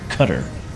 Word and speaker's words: Qatar: We're actually just north of Qatar right now or Qatar the correct way to say it by rain Doha if